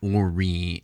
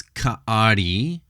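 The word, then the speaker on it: כארי: It's not kori and corei. It's kari and karu.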